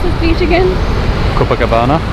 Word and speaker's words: Copacabana: How do you pronounce this beach again? Copacabana. Copacabana.